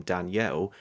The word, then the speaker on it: Daniel: The actor Milo Machado Grana as the son Daniel, or how they say his name in the film, Danielle, I thought delivered one of the best physical child performances I've ever seen.